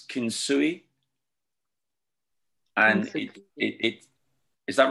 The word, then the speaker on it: kintsugi: There's this Japanese term, please forgive me if I get the pronunciation wrong, but I think it's kintsugi. And is that right? Oh, kintsugi, yeah.